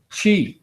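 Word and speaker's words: qi: I sometimes it's written as c-h-i but it's pronounced Chi and so that's what we're trying to do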